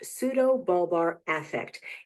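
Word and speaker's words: pseudobulbar affect: PBA is pronounced pseudo balbar affect.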